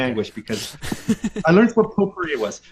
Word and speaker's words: potpourri: It's like P-O-T, like pot, and then P-O-U-R-I. No, that's pottery. What? Oh man. It's pronounced potpourri.